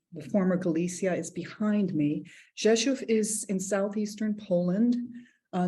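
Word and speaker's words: Rzeszów: z o with an accent w and it's pronounced Jesus okay so I'm the map of the former Galicia is behind me Joshua is in Southeastern Poland uh near the beginning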